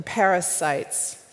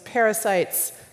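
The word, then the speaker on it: pericytes: vessel disease and something called the parasites not spelled like the vermin that are small but PE RI CY tes which are like constrictors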